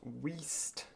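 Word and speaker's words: Weaste: lady well tram stop we've then got waste and that's not me pronouncing it deliberately wrong that's that's literally how it's spelt look t w-e-a-s-t-e waste west west langworthy park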